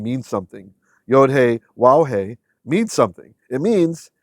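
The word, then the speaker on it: יהוה: of the reasons that we know how to say his name and no it's not yov that's absolute nonsense so here if means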